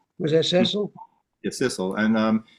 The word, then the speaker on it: Sissel: Cecily? Was that Cecil? Yeah, Sissel, and it's Oh man, she's awesome.